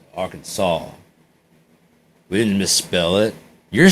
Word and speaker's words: Arkansas: This is Arkansas. It's Arkansas. We didn't misspell it. You're stupid. Shut up. It's Arkansas.